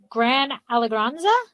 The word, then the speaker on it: Gran Alegranza: And my last question is dealing with your, and I'm going to say it wrong, Gran Alegranza? Correct.